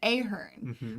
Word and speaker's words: Ahern: My last name, my maiden name is Ahern, which is like phonetically pretty easy.